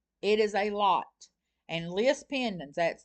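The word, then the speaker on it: lis pendens: I could say, I want to know in my search, I'm in York County, I want to know how many list pendants has been filed in York County since January the 1st, 2026 through whatever date.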